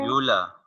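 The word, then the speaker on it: uvula: व्यूला। इसमें you silent है, इसको कहते हैं व्यूला।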